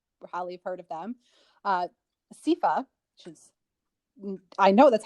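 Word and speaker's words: seiðr: the goddess freya probably heard of them uh sifa which is i know that's how it's pronounced but not at all way differently guys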